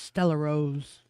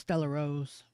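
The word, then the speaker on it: Stella Rosa: And it's pronounced Stella Rose. Is that what that is? Yes. It looks like Artois. It's pronounced Stella Rose.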